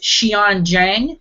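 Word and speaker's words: Xian Zhang: first time ever and her name is she on Jang I'm a hundred percent sure that's right because the first pronunciation site I found on google said that's the way you say it xian zhuang she is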